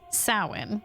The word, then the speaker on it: Samhain: And so, those people have been gathered here at Samhain, because that's how you pronounce that word, where and when the veil is thinnest, to see if that is true.